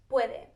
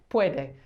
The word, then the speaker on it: puede: Puede. Puede.